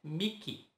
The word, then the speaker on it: Mickey: O EI no final das palavras são pronunciadas como I. Ah, então quer dizer que Mickey não é Mickey? Fui enganado esse tempo todo? Exatamente, é Mickey, Mickey.